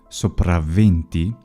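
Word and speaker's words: sopra venti: For example, above 20, which is sopravventi, the initial consonant is geminated.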